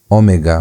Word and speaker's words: omega: then you have uh the last one omega which looks like a w in the English but in the Greek Greek, it it has the O sound.